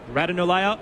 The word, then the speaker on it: Ratanolea: Ratanolea launched himself into the air and tapped it over the boundary line. If you are just joining us, new pronunciation for Asava's surname, Ratanolea, which is his Fijian heritage, and he did let